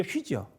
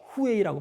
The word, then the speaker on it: 휘: 그러니까 히읗과 유를 더하면 어떻게 되죠? 휘죠.